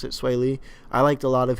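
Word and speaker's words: Swae Lee: I liked sway Lee mm-hmm that's how you pronounce it sway Lee I liked a lot of him unlike features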